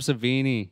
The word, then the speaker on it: Savini: uh development okay Tom savini Tom I had Houdini in my head and I knew that wasn't right and I was like I know it rhymes with that he is a magician